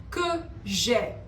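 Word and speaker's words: que j'aie: Que j'ai. Not j'ai, que j'ai. That is the pronunciation, j'ai, because of the E at the end.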